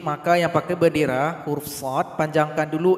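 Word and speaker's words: ص: Huruf shad kalau kita urai ada dal sukun di belakangnya. Nanti harus ada bunyi qalqalah atau bunyi pantulan. Shad.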